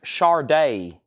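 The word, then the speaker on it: Sade: Willis and then Shard Shard day Paradise I know it's spelled sad D you pronounce it Shard Shard my name is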